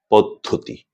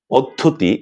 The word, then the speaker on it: পদ্ধতি: আর শব্দটি হচ্ছে পদ্ধতি। পদ্ধতি। কেউ কেউ এই শব্দটির উচ্চারণ পদ্ধতি করে থাকেন।